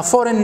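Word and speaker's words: foreign: اذا هنا في حاجه مهمه اسمها فورين ماتيريال، ماده غريبه، فورين ماتيريال، فورين ماتيريال، شنو اسمها؟ فورين، فورين جي ما تنطقش، فورين ماتيريال، مادة غريبة تخش لجسمنا، قد تكون فيروس، قد تكون بكتيريا، باهي.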